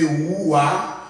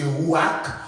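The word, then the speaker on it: רוח: Depuis dans la langue originale là, nos souffles là, c'est Roua, ou bien Rourach, etc. C'est ça qui est écrit R-U-A-C-H. Il y a un qui prononce Rouak, ou bien encore Roua.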